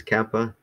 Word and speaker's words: kappa: then Kappa so Kappa so that's where we want to put the emphasis Kappa okay yeah that's pretty